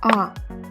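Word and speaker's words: ㅏ: This letter makes a sound of ah. It's not a, it's not any other sound, it's just ah. It's just the way I pronounce it. You also just repeat after me, it's ah.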